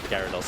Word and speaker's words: Gyarados: Is it Gyarados or Gyarados? It's Gyarados, I think I said it wrong.